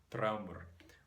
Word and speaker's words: draumr: So most likely that R is simply another syllable, draumr, and then we have something like the pronunciation of the Old Norse word, draumr, which is not identical, notice, to any of these modern languages.